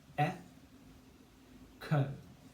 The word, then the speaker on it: echo: So we say e-ko, k-o, ko, e-ko, echo.